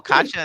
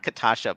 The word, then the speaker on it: Katja: Oh, Katja is saying not Katasha, please. Sorry about that. Okay, Kasha. Katja, Katja, but it's pronounced like a Y.